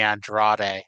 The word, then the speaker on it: Andrade: He did a dark match, and they announced him as Manny Andrade. I'm like, oh, that's how you pronounce it.